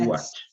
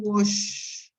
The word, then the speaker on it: watch: documentary document you watch be careful with this the pronunciation of this is watch watch watch sorry no no no no sorry watch this one watch what is different from wash this is wash you wash your hands but you watch tv